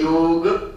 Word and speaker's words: योग: ध्यान लगा ले कि इसका जो उच्चारण है जो सही प्रोनंसिएशन है वो योग क्या योग योग नहीं भारतीय संस्कृति में 3